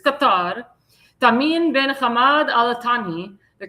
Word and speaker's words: Qatar: That's how you say Qatar, not Qatar. Qatar. That's how that's how the Arabs pronounce it. It's Qatar.